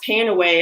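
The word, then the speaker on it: PanAway: want to talk about is panawe and or it can be pronounced paying away and I just want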